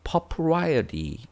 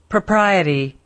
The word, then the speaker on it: propriety: 여기서 역시 propriety 발음할 때는 프로보다는 퍼 약간 R 발음이 없어져요. 그래서 propriety 이렇게 propriety 이런 식으로.